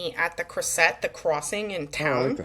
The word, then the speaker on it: Krysset: Krysset.